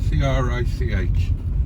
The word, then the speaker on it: Crich: And here we come into the rather beautiful village of Crich, spelt Crich, C-R-I-C-H, pronounced Crich, and just there on the right is